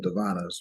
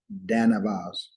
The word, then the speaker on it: Danavas: So I'm gonna look up Devanas real quick, see what they say. Devanas. And remember, the Aryans is the ones that See the fathers, Devanas. the leaders. No, it's actually Danavas.